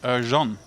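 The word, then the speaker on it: Ercan: I see a very Turkish-looking name in the Twitch chat telling me that the name is pronounced Erjan.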